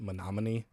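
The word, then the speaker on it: Menomonie: It actually is written out as me no money and you pronounce it monomin.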